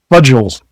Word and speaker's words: fudgel: Fudgels. It's spelled like the word fudge, but there's an l at the end.